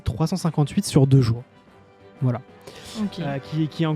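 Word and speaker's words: 358/2 Days: Et j'ai vu sur Wikipédia hier qu'en fait, ça se dit 358 sur 2 jours.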